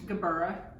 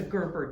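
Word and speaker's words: gerbera: oh say that again gabura oh i thought it was a gerber daisy well most people pronounce it that way but there's an a at the end okay and these come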